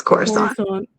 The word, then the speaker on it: Coruscant: Yeah, it's Coruscant. See, I'm the reader. This is why I mispronounce everything.